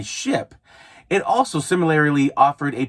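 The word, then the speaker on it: Shyp: There also was another delivery app service called Ship, spelled with a Y instead of an I, Ship.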